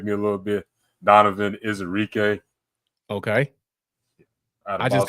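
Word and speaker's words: Ezeiruaku: I'm proud that I can pronounce his name. It took me a little bit. Donovan Izarike.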